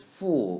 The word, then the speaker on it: 服: F is full without L in neutral tone. Full, fu.